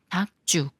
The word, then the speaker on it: 닭죽: 리을 기억 받침 중에 리은 생각 말고 기억과 지이 만나는 거라서 지을 쌍지 rather 소리로 읽어요 닥 쭉 닥죽 여기까지는 된 소리로 읽는